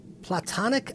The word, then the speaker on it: Plato: topology instead of landscape platonic ideal instead of just ideal people say Plato Plato's concept but he actually referred to as platon by very many people